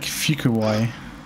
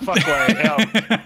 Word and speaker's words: Fuquay: It's like Fukuwai. Like yeah, what the hell? Spell it. That's I typed it in chat there so you can look at it if you're a visual person. But let's get an attempt from the from the other Brit. Let's see how do you come on follow. How do you pronounce that? No idea. Okay. What Leicester or that? Is it fuck away? No, it's not fuck away.